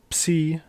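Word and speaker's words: ψ: So the way you pronounce it is by actually pronouncing both of the sounds. Ps. In English, the P is silent, but in Greek, you pronounce the P. So ps. That's psi.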